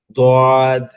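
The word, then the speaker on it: ض: দোয়াদের ক্ষেত্রে দেখেন, আমাদের গালের যে ভিতরের অংশটা, ভিতরের যে জিহ্বার একদম গোড়াটা আছে, ওটা আমাদের এই উপরের যে মাড়িটা আছে, উপরের দাঁতের যে মাড়িটা, এই গোড়ার মাড়ির সাথে লাগবে, লেগে উচ্চারণ হবে দোয়াদ, দোয়াদ, দোয়াদ, দোয়াদ, দোয়াদ।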